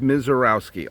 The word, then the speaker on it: Misiorowski: It's pronounced Miserowski.